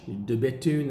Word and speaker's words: De Bethune: Then we've got De Bethune. De Bethune are cranking out really, really nice watches. The B-E-T-H-U-N-E, don't say the H. De Bethune, they're up in Saint